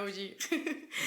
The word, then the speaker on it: Augé: De hecho, el antropólogo francés Marc Augé, no sé francés. OG. Lo hemos buscado y se pronuncia OG.